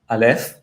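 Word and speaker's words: אלף: This case the consonant is alf. And alf doesn't make a sound.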